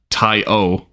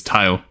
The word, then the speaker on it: Taio: name is like that so it's not Taio it's tyo like Django the solar boy